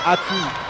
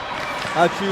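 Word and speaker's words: Ačiū: And believe it or not, it's Achu. Achu, that's thank you in Lithuanian.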